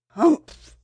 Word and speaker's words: Humph: Hump, said the sand fairy. If you read this story aloud, please pronounce hump exactly as it's spelled, for that is how he said it. Humph.